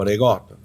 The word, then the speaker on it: ricotta: I said ricotta. How do you say it? Regatta. Ricotta? Yeah, no, I don't. New York and Jersey, you guys shot it. I say it proper, regatta.